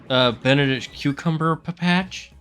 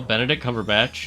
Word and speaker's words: Benedict Cumberbatch: Doing Benedict Cumberbatch. Benedict Cucumber Patch? No, Benedict Cumberbatch, because that's how you say his name.